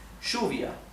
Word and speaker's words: lluvia: The word for rain, which in Spanish is lluvia, okay? Lluvia in Argentina and in Uruguay is pronounced lluvia.